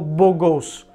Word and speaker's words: beau gosse: Si lo pronunciamos algo como beau gosse.